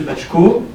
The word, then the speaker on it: Baczko: Donc aujourd'hui nous avons le plaisir et l'honneur de recevoir Monsieur Bachko. C'est bien prononcé, c'est bon ?